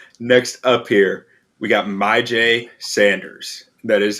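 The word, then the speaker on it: Myjai: all right next up here we got my j sanders that is how you pronounce it not my xy as i've been saying for months as i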